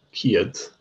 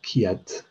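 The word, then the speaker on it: ceud: So we've seen Ciad, and remember this EU is often pronounced as EA, as IA. So Ciad, Ciad, 100.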